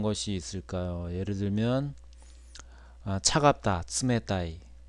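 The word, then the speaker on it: 冷たい: 그래서 윗니의 뒷부분 입천장이 시작되는 부분에 혀끝을 대고 츠라고 하는 것이 일본어의 츠 발음입니다. 일본어의 츠 발음이 들어가는 대표적인 단어는 어떤 것이 있을까요? 예를 들면 차갑다, 츠메타이, 츠메타이.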